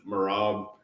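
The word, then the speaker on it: Merab: lone wolf on this one I'm going with morab uh I don't really care don't really care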